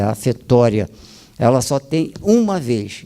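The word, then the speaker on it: ἀφθορία: Afetória grega, se fala afetória, mas é A-P-H-T-H-O-R-I-A, no grego, né? Mas a pronúncia é afetória.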